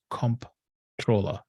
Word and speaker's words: comptroller: go over to controller.texas.gov controller is actually spelled with a c-o-m-p-t comptroller uh just like it is occur over there not control but comp troller so take off and